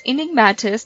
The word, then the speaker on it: Enigmatis: I finally learned how to say it. It's Enigmatis. So it's Enigmatis, the Mist of Ravenwood.